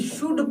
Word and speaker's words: should: उसके बाद देखिए SHOULD, शुड पढ़ेंगे, क्या पढ़ेंगे, शुड। यहाँ पे एल साइलेंट रहता है, क्या रहता है दोस्त, एल साइलेंट रहता है, यानी ए का प्रोनाउंसिएशन नहीं होता है। तो यहाँ पे हम लोग पढ़ देंगे शुड।